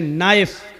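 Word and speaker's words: knife: जैसे इंग्लिश में नाइफ। किसको कहते हैं? चाकू को। नाइफ के माना चाकू। लेकिन के लिखा जाता है। बोला नहीं जाता। वो साइलेंट रहता है।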